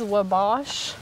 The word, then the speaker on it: Wabash: Sophie Memorial camp meeting it was Wabash I guess I'm saying that right how do you spell it w-a-b-a-s-h way back the Wabash Cannonball all right so they